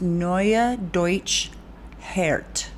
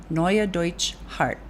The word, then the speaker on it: Neue Deutsche Härte: okay, I looked up how to say this, Neue Deutsche Härte, which means new German hardness band. Neue Deutsche Härte, Neue Deutsche Härte, formed in Berlin in 1994.